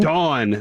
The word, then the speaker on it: Dawn: I'm assuming you skipped the exact pronunciation for... maybe, is it Dawn? Oh, I thought you were saying it was Dom something. Dawn.